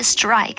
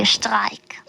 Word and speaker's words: Streik: Yes, we have the word Streik, but we don't say strike. We say Streik.